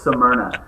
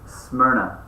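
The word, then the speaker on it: Smyrna: properly like I thought I always thought it was Suna you're like no it's just smna and I'm like smna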